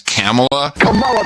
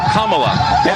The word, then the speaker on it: Kamala: And until Sunday, adios mofos and such make a joke about the fact that people have mispronounced Kamla as Camela the Ugandan head hunter brought to you by the wizards.